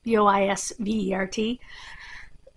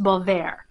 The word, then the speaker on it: Boisvert: for Beauvoir or Boisvert, if you want to say it the way it looks, B-O-I-S-V-E-R-T, which is actually pronounced Beauvoir, not Boisvert, it's Beauvoir. Look for Greenwood, because that's the English translation.